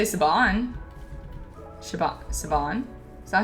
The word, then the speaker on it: Siobhan: Sabon Sabon. Is that how you say that? S I O B H A N.